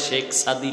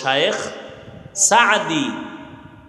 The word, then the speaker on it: শায়েখ সাদি: পারস্যের কবি কুল সম্রাট আল্লামা সাদি রহমাতুল্লাহ আলাইহি, যাকে শায়েখ সাদি বলে, বাংলায় শেখ সাদি লেখে, শব্দ উচ্চারণ শুদ্ধ হলো শায়েখ সাদি।